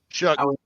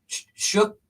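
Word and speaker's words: Shough: How do you pronounce his name? Shook. Shook. Yep. Tyler Shook.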